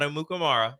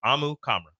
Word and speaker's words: Amukamara: pronounce his last name it is not amukamara it is AMU kamra AMU kamra like camera but not camera CRA